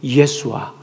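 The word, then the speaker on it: ישוע: 근데 이거를 히브리어로 발음하면 예수아.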